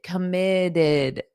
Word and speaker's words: committed: You have that id for both of them. The final T is more of a soft D in American English. Dedicated, did, committed, did.